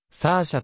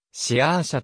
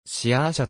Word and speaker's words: Saoirse: アメリカやイギリス等とサーシャと発音されることが多いと答えている歯科足アイルランドでは発音記号で示されているようにシアーシャと発音されており父ポールロナンもシアーシャと発音しているアメリカ合衆国の